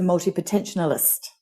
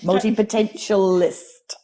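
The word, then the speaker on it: multipotentialite: her that she's a multi potentional list I've said it wrong again multi potential list multi meaning many potential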